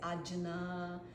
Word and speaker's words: Ajna: It's very hard to pronounce. Some people say Ajna. How do you spell it? A-G-N-A with a little sign on top of the N. But in Indian, I'm not an Indian, I'm Brazilian, so it's just my accent.